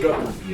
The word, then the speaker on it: Guthrie: It's just Guthrie.